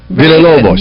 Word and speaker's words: Villalobos: he's the one that he took me to school on the pronunciations of Hispanic names. And then there is Dr. Isabel Acevedo Villalobos. Villalobos.